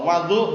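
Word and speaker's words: وَضوء: Wadu bukan wudu. Bedakan wudu perbuatannya, wadu airnya.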